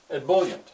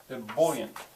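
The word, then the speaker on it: ebullient: what I'm doing here an abant Young official e bullant is the word and i' write it am I pronouncing it right yep e bullant who can hear where the where the stress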